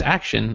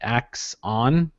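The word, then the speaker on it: Axon: I thought it was Action. I really, really did. Is it? I don't know. I may have spelled it wrong in the document. No. That's literally how it's spelled, but I guess Okay. people are pronouncing it Ax on.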